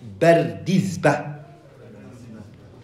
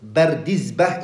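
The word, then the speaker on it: Bardizbah: Ibn Bardizba. Bardizba is his name. Okay? This way of saying Bardizba is the correct way. Two scholars said that. These are benefits you write down. Bardizba is how you say his name.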